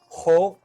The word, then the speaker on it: Xho: them but uh yes sifu's full name is ho it's xho ho and luo l-u-o that is my best best attempt at pronouncing that correct h huh yes